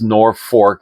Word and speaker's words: Norfolk: This is a 1985 Chrysler LeBaron convertible out of Norfolk, Nebraska, and it's Norfolk is how they pronounce it up there.